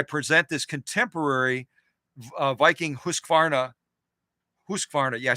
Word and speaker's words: Husqvarna: tomorrow as I present this contemporary Viking Husqvarna Husqvarna yeah I said it right Viking Husqvarna Designer